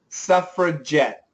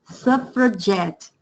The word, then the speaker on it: suffragette: Suffragette. Suffragette. So décolletage, it's a ZH. Suffragette, it's a J pronunciation.